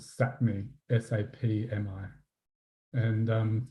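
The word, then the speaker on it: Sápmi: on the A and their land is called sat me s-a-p-mi and um it's just collectively known as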